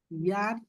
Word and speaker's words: ihr: ইয়ার, ইয়ার, হ্যাঁ, ইয়ার। বানান করেন তো।